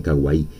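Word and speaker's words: かわいい: Los japoneses lo pronuncian kawaii, que en español viene a ser algo chulo, algo bonito, tierno.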